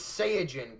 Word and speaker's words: Saiyajin: Well, it's pronounced science, so there's. Cyan. Yeah. Well. Alright, fair enough. It's Saiyajin.